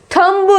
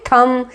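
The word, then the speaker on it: thumb: जैसे कि थंब लिखते हैं लेकिन इसको बोलते क्या है, थम। इसका राइट प्रोनाउंसिएशन है थम। इसमें क्या है, बी इसमें जो है साइलेंट है, तो थम।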